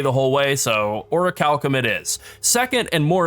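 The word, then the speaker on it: Orichalcum: I have looked it up and it is pronounced or a Calcom even though it's spelled or a chalum uh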